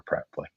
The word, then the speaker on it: Preply: I may Okay, have that makes me feel a mispronounced it little better. myself the first time around that. Yeah, no, don't worry. It's Preply, but yeah, it happens.